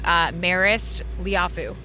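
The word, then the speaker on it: Marist Liufau: So one of the guys that kind of stuck out to me was Marist Liafu. Is that how I pronounce his name Yes, correctly?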